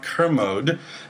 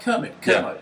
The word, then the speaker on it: Kermode: I did, and I spent like the whole week saying, I'm interviewing Mark Kermode, and emphasizing.